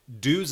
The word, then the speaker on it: Dyse: And there's a German band named Duze, but it's spelled Dyse.